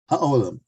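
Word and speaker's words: HaOlam: Ha with an H. Ha-Oilam. Ha-Olam. Okay, the earth, the world.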